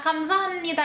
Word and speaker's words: 감사합니다: Tapi kenapa dibacanya jadinya 감사합니다 instead of B yang dibaca jadinya M? Kenapa? Karena huruf B kalau ketemu sama N yang di depannya malah berubah jadi M.